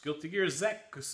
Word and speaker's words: Guilty Gear X: to my game collection Guilty Gear X Guilty Gear Z is how it's pronounced in Japanese I don't know why